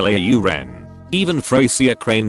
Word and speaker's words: Lauren: When people pronounce Ralph Lauren as Ralph Lauren. I mean that's not even his real last name, but it's not the point. Ralph himself confirmed it's Lauren.